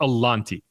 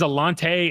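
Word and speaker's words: Alontae: people don't realize Alante Alante Taylor's name is pronounced Alante. Now everyone says Alante and he doesn't care and it's not worth correcting people.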